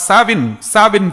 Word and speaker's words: Samhain: The spelling is Samhain, but it is pronounced as Samhain Festival.